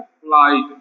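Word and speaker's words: flight: जब साइलेंट हो जाएंगे तो हमारे पास बचेगा क्या, यहाँ पे क्या हो जाएगा, फ्लाइट।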